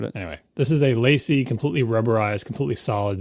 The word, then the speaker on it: LaCie: brand whose name no one knows how to pronounce. LACIE. It's been around for ages. Oh, Lacey. I remember getting hard drives from them for my classic Mac. I always said Lacey. I always say Lassie in my head, but I don't know.